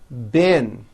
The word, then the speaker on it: been: However, this word, B-E-E-N, spelled with a double E, is pronounced with a low I sound.